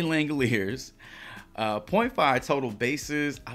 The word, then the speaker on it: Langeliers: talk about Shane Langoliers took me a little while to uh to get the uh pronunciation of his last name correct I wanted to say langelier overthinking it a little bit there Shea langeliers uh 0.5 total bases